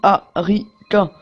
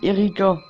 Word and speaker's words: Harika: Ça se prononce Harika. Mais tout le monde dit Erika.